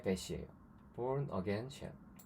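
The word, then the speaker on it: Bourne: 보온은 태어났다라는 말과 이제 발음이 똑같죠. born 이건데, 사실은 이거는 사람 이름이에요.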